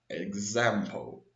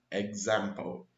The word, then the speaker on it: example: you have an x the way of pronouncing this word is example watch closely listen closely example example this phoneme here like in the word like it isn't an exponent there's a g phoneme egg egg zempo so you can see